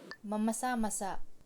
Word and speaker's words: mamasa-masa: You have to be careful of the accents here because masa means moist, but there's another word spelled the same called masa, which means the masses. So masa and masa. So just be careful to say it as masa.